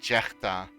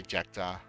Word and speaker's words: Jechta: you will say like Jechta, like with the G, like Jechta. But that's in my own language. But in English I just say Jechta. Like it's like you hear the K basically.